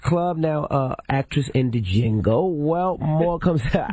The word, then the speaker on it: Django: Now, actress in the Django. Well, more comes out. Django, I think it's Django.